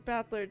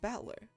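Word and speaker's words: Battler: far the problem is my given name batler is made up of the characters for fight and person as pronounced batler put it all together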